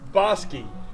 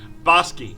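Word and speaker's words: Bosque: might say this is bosi It's pronounced like b o s s k y bosi it's the name of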